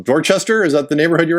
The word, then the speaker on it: Dorchester: Excuse me if I'm pronouncing it wrong. Dorchester, is that the neighborhood you're in? Dorchester, yes.